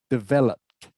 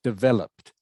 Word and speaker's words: developed: you pronounce that word developed okay not develop it okay so it's developed so the last e is silent okay okay okay so